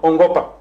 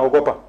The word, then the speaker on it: ongopa: Neno hili ambalo ni ongopa. Ongopa na ogopa. Ndipo lazima tuwe makini sana matamshi yetu. Ongopa na ogopa.